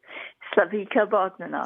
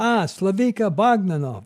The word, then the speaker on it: Slavica Bogdanov: Tell me how to say it. Slavica Bogdanov. Slavica Bogdanov. I've got it.